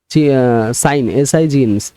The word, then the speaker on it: sign: সিং and thing, সাইন, SIGN, এখানে জিটা সাইলেন্ট।